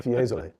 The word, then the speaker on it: Fiesole: Fiesole.